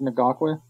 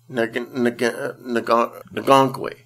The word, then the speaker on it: Ngakoue: Yannick Ngakoue. Ngakoue.